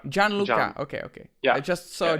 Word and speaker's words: Gianluca: So I was just talking to Jill, and now I'm talking to how can I pronounce her name? It's Gianluca. Gianluca.